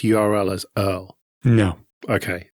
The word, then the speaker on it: URL: is well aware that most people say URL but is like screw that one syllable this is a thing that I have to talk about a lot it's an Earl get used to it fair enough to Jim's